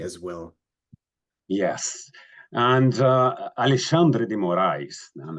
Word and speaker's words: Alexandre de Moraes: well yes and uh Alexandre de Moray and that's the way the Brazilian tend to pronounce his name uh uh is a